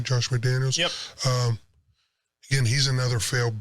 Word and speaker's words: McDaniels: Am I saying it right, Josh McDaniels?